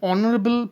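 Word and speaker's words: honorable: দেখো, অ্যান অনারেবল person, তো এখানে অনারেবল বানানের ক্ষেত্রে আমরা দেখতে পাচ্ছি এইচ বসছে, কিন্তু এইচটা উচ্চারণে বসছে না, উচ্চারণ শুরু হচ্ছে অনারেবল থেকে।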